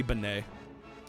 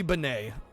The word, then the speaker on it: Benet: Donnie Benet. Uh, spelled B E N E T. The T is silent.